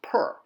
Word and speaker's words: per: just the letters but it's still pronounced per because per is the Egyptian word for house all right so here